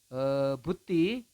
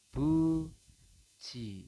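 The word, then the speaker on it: 붙이: Ini buti dibacanya adalah buci. Seperti itu ya. Anda baca adalah buci, bukan buti ya, tapi buci.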